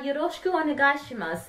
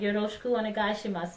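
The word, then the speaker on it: よろしくお願いします: Now, yoroshiku onegaishimasu. It's kind of tricky to explain what yoroshiku onegaishimasu means.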